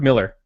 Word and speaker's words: Millar: Is it Mark Miller? Yeah, it's Mark Miller. It's not Millar. It's not like a balloon.